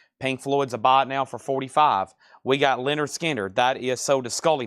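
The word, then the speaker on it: Lynyrd Skynyrd: And Leonard Skinner, Pronounced Leonard Skinner.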